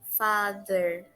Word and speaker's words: father: A pronúncia do TH, nesse caso, tem basicamente um som suave da letra Z. Mother, father.